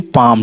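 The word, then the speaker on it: palm: फिर पाम, ठीक है, पाम, लाम नहीं, ला नहीं इसमें जोड़ना है, पाम, क्योंकि एल साइलेंट है।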